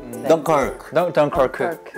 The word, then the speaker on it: 덩케르크: 네, 덩케르크. 덩케르크고 덩커크 덩커크. 발음하는 어디 나라 말입니까 이게? 사실은 이게 지역적으로는 프랑스 지역이기 때문에 아. 프랑스어로 발음을 하면 네. 덩크크 뭐 이렇게 정도 덩커크.